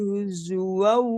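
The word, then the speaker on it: هُزُوًا: Zu-nya kurang pas. Zu. Zu. Ujung lidah. Ujung gigi atas. Zu. Ya. Lu Nah, gitu. wala tattakhidhu ayatillahi huzwan wazkuru nikmatallah.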